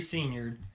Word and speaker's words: Siniard: That's SINIARD is how my last name is spelled. You'd never spell it on your own, I promise. You probably wouldn't be able to pronounce it on your own if it wasn't for me pronouncing it.